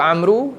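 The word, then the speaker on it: عمرو: Dia Amru ni dia ejaan sama . Satu macam ni. Satu ada waw. Bila ada waw ni, dia sebut cara baca dia macam ni.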